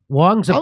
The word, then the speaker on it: Wong: be inappropriate but uh Wong is about the name Wong rhyming with dong because that's the only